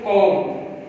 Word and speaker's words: comb: Rule number 1 के अंदर अब देखिए वर्ड आपने पढ़ा होगा बच्चों, कॉम, COMB कॉम। अब ये जो बी है बी जो है ये साइलेंट है। अब कॉम्ब नहीं बोलेंगे, अब ये वर्ड इस्तेमाल होता है।